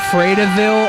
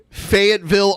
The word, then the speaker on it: Fayetteville: that's commendable s Fray DeVille Arkansas yeah fredaville Arkansas that's that's not where he's from Fayetteville Arkansas yeah but he read it